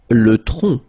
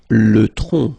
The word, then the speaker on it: tronc: Le tronc. Le tronc, okay, remember, final C is not pronounced here. Le tronc, okay?